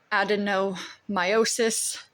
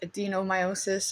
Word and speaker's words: adenomyosis: The disease is called Adenomyosis. I guess some people might mispronounce it as Adenomyosis, or if you're really bad with tongue twister